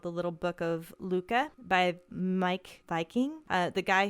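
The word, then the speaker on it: Lykke: Luca. I didn't either. I just looked at the pronunciation below.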